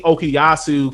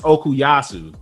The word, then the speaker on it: Okuyasu: it and then and then we we see okiyasu koichi and uh yukako and they're like his